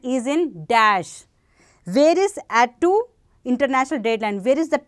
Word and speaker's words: Attu: You are going to pronounce this as a, you can call as Attu or Attu. This is actually called as Attu.